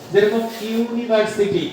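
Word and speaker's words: university: ইউ দিয়ে শুরু হইছে বাই দিয়ে শুরু হইছে উচ্চারণ হল ইউ এর মত বুঝতে পার ইউনিভার্সিটি ইউনিভার্সিটির শুরুতে কি আছে?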